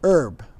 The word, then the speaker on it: herb: This is herb. You don't pronounce the H if you're in America.